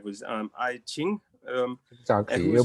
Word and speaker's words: Ai Qing: And your father, I'm not sure if I'm pronouncing the name right, was Ai Qing. Exactly, you pronounce the name better than me.